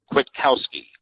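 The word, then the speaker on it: Kwiatkowski: Um, there's got to be a pronunciation somewhere. Oh, here we go. Here we go. Ready? Ready. Pete Quitowski.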